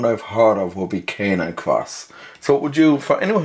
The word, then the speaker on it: Canicross: Okay, so Canicross, I'll correct you. Sorry about that because it's pronounced Canicross, even though it's spelled kind of Cani-cross.